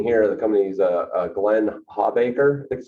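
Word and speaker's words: Glenn O. Hawbaker: if you didn't hear the company's uh uh glenn hawbacher that's how you pronounce it is anybody aware of that you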